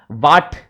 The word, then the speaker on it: what: वाट, इट्स नॉट वाट, इट्स वॉट, ठीक है।